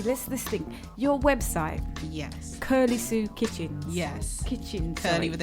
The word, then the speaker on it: Kirly: as well so the name I came up with was curly sue but it's spelt differently my knees felt K irly and curly sue curly